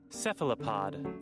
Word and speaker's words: cephalopod: Philippines how do you how do you pronounce that cephalopod cephalopod cephalopod okay cephalopod squids have a